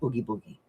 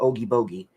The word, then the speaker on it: Oogie Boogie: And I also have to make an Oogie Boogie or an Oogie Bogey, depending upon how you pronounce it.